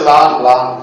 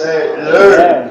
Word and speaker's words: learn: But we say lan. Lan to murgi lan. Chittagonian people say murgi ran, they say murgi lan. So this is learn.